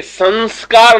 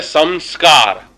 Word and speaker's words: संस्कार: हैं ना वो अनुस्वार, जो हम स के ऊपर जो अनुस्वार लगा रहे हैं वो अनुस्वार म को साउंड है, म. तो ये संस्कार नहीं है, या को जो सही जो प्रोनाउंसिएशन है या को जो सही उच्चारण है वो है संस्कार, म, संस्कार. ये उच्चारण या को जब